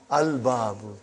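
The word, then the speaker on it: الباب: Moon letter. You did pronounce lam. Al-babu.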